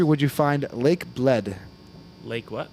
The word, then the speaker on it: Bled: would you find Lake Bled? Lake what? Bled. Blid? Can you Bled. spell that?